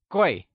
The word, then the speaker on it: Guì: Gui is pronounced in the falling tone. Can you say Gui?